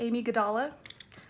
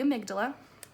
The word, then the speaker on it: amygdala: next is the amygdala a lot of people call it the Amy kadala which is easy for when you're trying to learn how to spell it but it's called the amygdala it's this right here